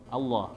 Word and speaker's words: Allah: Kalau di dalam kalimat Allah, Bapak, iya dibacanya tafkhim, tebal. Jadi kita mengucapkan Allah apa Allah? Allah.